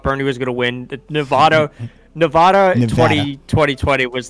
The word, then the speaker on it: Nevada: i live in vegas it's nevada they're very particular about it oh okay i'm from i'm from you know what i'm talking about yeah i'm from vermont originally my original pronunciation was nevada as well because nevada